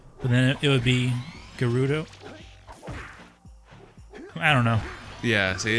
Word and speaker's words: Gerudo: I'm calling it Gerudo. I say Gerudo because GE. Like I made this argument with you too. Like your name. My name is Gerald. Gerald starts with a GE.